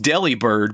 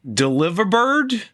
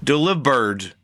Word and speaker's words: Delibird: this is not pronounced Delibird, but it's supposed to be pronounced like delivery. So, it's like Deliverbird? Delibird? Delibird.